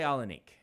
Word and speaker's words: Alanik: I was 99% sure it was said Alanique. I say Alanique. But I mean, none of us speak Erdale, so you can decide how it is.